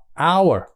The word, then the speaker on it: hour: nguyên âm đúng chưa tại vì người Mỹ không phát âm cái chữ h h n đó mà họ trong chữ này họ đâu là thì nó bắt đầu bằng cái âm là A đúng chưa rồi mới u a a rồi mới ờ our our Thì đó bắt đầu một nguyên âm chứ không phải là âm h h vì thế cho nên